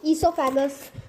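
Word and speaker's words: oesophagus: जैसे कि पहले होता है बकल कैविटी, सेकंड होता है फूड पाइप और ईसोफेगस। ओ ईसोफेगस नहीं, ओ साइलेंट होता है, उसको हम लोग इस फूड पाइप को हम लोग इसीलिए ईसोफेगस कहते हैं।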